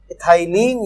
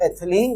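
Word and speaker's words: ethylene: इथाइलीन या एथिलीन, जो भी आप प्रोनाउंस करते हैं।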